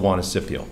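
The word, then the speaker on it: Juanicipio: operate the facility for us and it's called wanna Scipio as you can see that's how you pronounce it the wanna Scipio JV so that's my to a degree but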